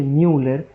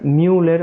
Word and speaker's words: Müller: Porque el conducto de Müller, para que puedan hacer una regla técnica, Müller, o sea, como una especie de U, sí, eh se pronuncia como I, digamos, en alemán, pero eh de de